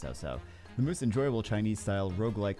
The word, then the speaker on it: Cao Cao: The most enjoyable, so this is Fantasy of Cao Cao 2, or is it Cao Cao? I think it might be pronounced Cao Cao.